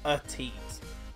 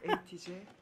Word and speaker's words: ATEEZ: I know you guys have been shouting at me saying you're pronouncing it wrong, Tom. It's ATEEZ, not ATEEZ.